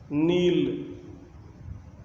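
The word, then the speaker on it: kneel: kept, kept, keeping, कीप्स, नील, घुटने टेकना, नेल्ट, नेल्ट, नीलिंग, नील्स, यानी अगर एन के पहले के होगा तो साइलेंट होता है, नो, जानना, न्यू, नोन,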